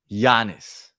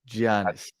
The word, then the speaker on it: Giannis: How do you pronounce it? Giannis. Giannis because I say G. I Okay, I guess I pronounce the G. Say you say Giannis. Giannis.